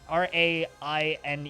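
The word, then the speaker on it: Raine: is lovely and Eerie ah good question Lena rain I think is how that is pronounced r a i n e oh yeah it's Lena rain yeah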